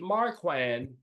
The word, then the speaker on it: Marquand: And Richard Marquand directed Return of the Jedi. Did I mispronounce the man's name?